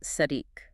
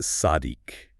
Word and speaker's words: צַדִּיק: The word is sadik. That's spelled sad dal yod kuf pronounced sadik.